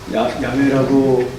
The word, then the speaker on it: 야훼: 근데 이걸 그분을 이제 부르기 위해서 그 자음만 따가지고 이제 불렀을 때 여호와라고 했는데 발음이 야훼라는데 야훼라는 그 발음이 더 가까워서 이제 야훼라고 됐습니다.